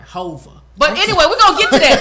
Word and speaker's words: Hova: No, you didn't say it right. Hova.